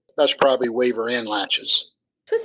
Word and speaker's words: laches: What about latches?